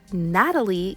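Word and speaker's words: Gnatalie: You may have seen that her name is spelled with a G. Natalie got her name from pesky little gnats, and the public actually voted on this name.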